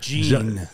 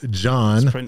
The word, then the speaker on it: Jean: Gene. John. That's crossing the line. It's not pronounced Gene. No. Yeah. John. Not Gene.